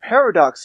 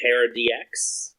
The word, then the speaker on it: Parad: and the appearance of paradox happened you mean par ex it's pronounced Paradox I know but Japanese